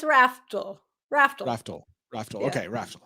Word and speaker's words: Raftl: It's an L on the end. It confuses everybody. It does. So it's Raftl? It's Raftl.